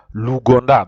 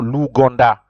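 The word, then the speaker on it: l'Ouganda: it is a Lu o u is pronounced o so luganda that's how you pronounce Uganda you say luganda because there's the article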